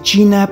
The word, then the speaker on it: Qin: Se cree que el nombre de China proviene de la transcripción al sanscrito Sina, del nombre de la dinastía Qin, pronunciado Chin.